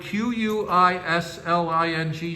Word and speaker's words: quisling: does anybody in the chat know what the word Q-U-I-S-L-I-N-G stands for? What that is? Yeah, Vincent, I have no idea. Oh, a traitor, Patrick's saying. It's pronounced Quisling. ARB says pronounced Quisling. Quisling.